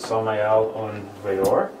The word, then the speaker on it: Samael Aun Weor: If you're curious what the name means, it's Hebrew in origin, and that's how you pronounce it, Samael Aun Weor.